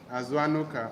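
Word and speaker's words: Azuanuka: and name is aanuka her name is a aanuka aanuka it is spelled a z u a n u k a asan he says that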